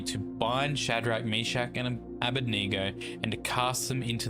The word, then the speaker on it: Abednego: Most people say Abednego, but I believe it's pronounced Abednego. Or Abednego, yeah.